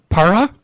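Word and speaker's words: Pará: Para, is that the state? Did I pronounce that correctly?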